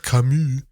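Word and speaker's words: Camus: know it's like uh you ready for the French pronunciation Albert kamu kamu um Albert kamu as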